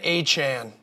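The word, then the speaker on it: Achane: it I have it here it is Devon aan Devon aan say it with me Devon aan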